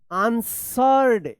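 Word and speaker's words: answered: अ few minutes and आंसर्ड यहां पे डब्ल्यू जो है ना साइलेंट है आंसर्ड आंसर में ई डी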